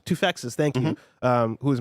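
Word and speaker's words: Toufexis: I actually don't know how to pronounce his last name. Tufex's.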